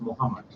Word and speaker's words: Mohd: MOHD is pronounced as Muhammad. MOHD. Is pronounced as Muhammad. Yeah, right again. Oh, so it's not Moht.